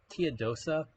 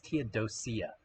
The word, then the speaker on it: Teodosia: So, Teadosa, you know, Tia, I keep mispronouncing it. It's Teodosia. Teodosia.